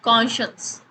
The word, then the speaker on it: conscience: is that is conscience conscience it sounds a bit different from how it looks so it should be conscious so i hope you